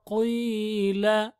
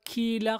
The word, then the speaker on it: قيل: وإذا قيل لهم وإذا with the tip of the tongue the not the وإذا قيل not كيل قيل لهم لا تفسدوا تفسدوا elongation with the